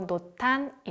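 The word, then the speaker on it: 濃淡: 하트의 대해 자세히 알아보겠습니다 노탄 아트란 일본어로 놓다니 라고 발음하고 이것은 한자 로 짙을 농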